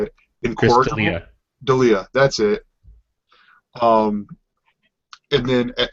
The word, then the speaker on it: D'Elia: D'Elia, that's it.